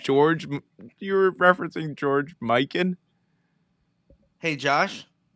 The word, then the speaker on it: Mikan: You were referencing George Mikan. Hey, Josh, spell that last name. Mikan. As 1,000%. Both ways work. Not McCann. Long sounding A. If it was, it could be McCann.